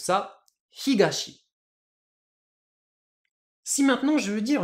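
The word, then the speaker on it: 東: il est tout seul j'utilise bien lecture purement japonaise et du coup je prononce ça Higashi si maintenant je veux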